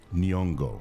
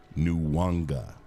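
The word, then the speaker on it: Nyong'o: Her name is Nongo, not New Wanga.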